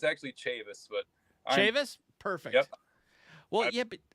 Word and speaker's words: Chavis: last name correctly as well uh nobody actually pronounced our last name right I'm used to it it's actually Chavis but Chavis perfect well yeah I whole entire